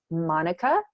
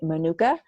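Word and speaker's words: mānuka: talk about new zealand's monica that's how they pronounce it but here in the u.s i think we say manuka because everybody's familiar with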